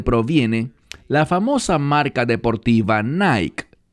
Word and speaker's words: Nike: la famosa marca deportiva Nike. Esa palabra Nike o Nike, como algunas personas lo pronuncian en griego, tiene que ver con victoria, con superar o derrotar al enemigo.